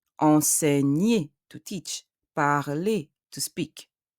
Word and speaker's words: enseigner: Enseigner, élève. G and N produce the sound N. Enseigner. ER, at the end of the word, ER, produce the sound E.